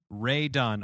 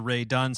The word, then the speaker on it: Rae Dunn: So, Ray Dunn, RAE, right? Is how you spell it?